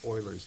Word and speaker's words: Euler: all right so we're also going to discuss Oilers meod e l r this is a method